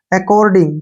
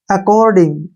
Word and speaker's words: according: और double C का उच्चारण यहाँ पे कै हो गया, ओ से ओ की मात्रा हो गई, ठीक है ना। और डी का उच्चारण डे हो गया, और आई का ई हो गया, और आर ऊपर लग जाएगा, ING को गे पढ़ते हैं हम।